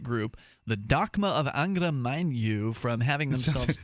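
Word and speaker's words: Mainyu: the docma of angra manu from having themselves sounds like a scottish satanic having them i'm probably mispronouncing this last word it's spelled m-a-i-n-y-u anyway they're going to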